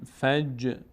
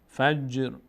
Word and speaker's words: فجر: مط لا عل فج. جیم هم از اون حروفی است که مقداری در هنگام تلفظ میلرزه، هم تا هم جیم. فج نمیگیم فج فجر.